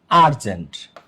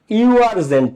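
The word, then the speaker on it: urgent: ফাস্টে কি উচ্চারিত হইছে শুরুতে ইউ আবার তুমি উচ্চারণ করো আরজেন্ট কি আরজেন্ট দেখ এই জায়গাটাতে একটু সবাই খেয়াল করো।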